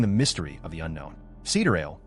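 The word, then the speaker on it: Sideræl: Cedar ale pronounced as citra eel refers to the genuine time of the cosmos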